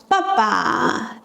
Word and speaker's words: 爸爸: The second character in these words is often pronounced in a neutral tone, giving it a softer and quicker sound.